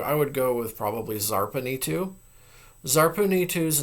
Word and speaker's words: Zarpanitu: The lady of the city of Zarpan, well, it would probably be Zarpanitu because her city also is pronounced with, it has a Z at the beginning.